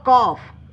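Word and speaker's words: calf: अ कॉफ यह देखिए गाइस यह जो है ना काफ लिखा हुआ है लेकिन इसे कॉफ पढ़ेंगे क्योंकि एल साइलेंट होता है।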